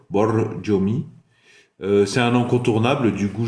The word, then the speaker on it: Borjomi: Borjomi. Le R, c'est un R roulé espagnol. Borjomi.